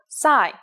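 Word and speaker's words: psi: the strange looking P you may have heard it in English called Sai there is no corresponding sound in English it makes a sound like P and S said at the same time here's the upper case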